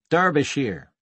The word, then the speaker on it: Derbyshire: went on came from Derbyshire he pronounced the e as in clergy and shy came out as sheer you know it he